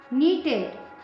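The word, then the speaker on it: knitted: Uh sweater was, sweater एक है ना, अ स्वेटर वाज नीटेड, इसमें केस साइलेंट है।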